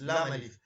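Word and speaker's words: لا: Master alif, it is lam alif, and this is the form.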